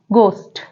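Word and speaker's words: ghost: examples okay for example example है घोस्ट अब यहां पर जो एच है वो साइलेंट है हम इसे घोस्ट नहीं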